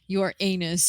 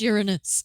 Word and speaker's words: Uranus: shows the marbles level of education it's not pronounced your anus it's pronounced Uranus the real non secretary I would argue that